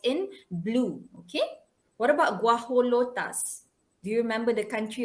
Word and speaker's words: guajolota: It's a gojo lota. Gajo lota. Okay, guajolota. Okay, that's how you should pronounce it.